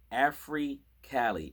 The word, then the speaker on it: AfriCali: has an album called AfriCali, and it's spelled AFRICA, like Africa, and then LI, like, so the break, if you break into in half, it's Afri, like Africa, and then Cali, California.